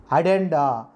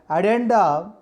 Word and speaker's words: addenda: The pronunciation is Addenda. As we all know, in double letters should be pronounced in the single letter. We should not pronounce it in contextual words, content words, or content words. In proper noun, we should pronounce double letters, but we should not articulate double letters.